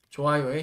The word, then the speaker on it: 좋아요: 자, 마찬가지로 싫어요, 좋아요 역시 그냥 싫어요의 리을이 올라가고 좋아요의 히은 가만히 이응처럼 발음돼서 싫어요, 좋아요 이렇게 읽어 주시면 되겠습니다.